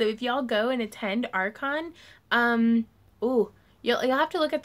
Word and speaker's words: Archon: Could you tell me more about, is it Archon? Yeah, it's spelled A-R-C-H-O-N. Right? I think so. Like Arc in St. Louis.